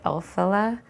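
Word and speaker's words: Elphaba: And I believe the name is pronounced Elphila.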